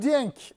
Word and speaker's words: Dieng: Bir defa biz telaffuzu çok dikkat ederiz ya Kerem. O Dieng diye okunuyormuş.